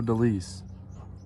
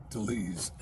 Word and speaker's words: DeLise: Franco Delise. How do you say it? Deleuze. D-E-L-I-C. Hi, my name is Franco DeLise.